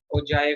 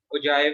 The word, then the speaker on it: ogive: Polygon, या इसको हम ओजाइव भी कहते हैं। कुछ लोग इसको ओगेव भी प्रोनाउंस करते हैं, लेकिन जो मोस्टली लोग यूज करते हैं वो ओजाइव ही यूज कर लेते हैं।